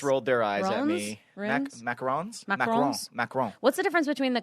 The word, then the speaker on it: macaron: is the coconut thing and macaron is the is the pronunciation for the French I just learned another thing I thought those were macaroons this is there's one